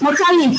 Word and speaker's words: Mokalik: Mokalik, which is a Yoruba pronunciation of mechanic, is a story about